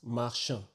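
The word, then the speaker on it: marchand: the next one is mar mar which means Merchant so the D at the end of the word is not pronounced so once again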